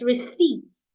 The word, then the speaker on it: receipt: The P is silent. Do not say receipts. It's receipts.